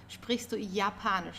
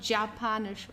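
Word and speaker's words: Japanisch: do you speak Japanese don't forget the German Y is pronounced as like the English y so yanish okay it's not japanish or something it's yanish um so then we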